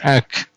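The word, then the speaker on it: -ac: which is a c we pronounce it as ack and the first term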